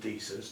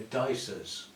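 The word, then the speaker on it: Disa: If that's how they pronounce it, then that's how it should be pronounced. So, I've got to try and remember because I've spent years calling them dies. They're dicers. Yeah, you got the same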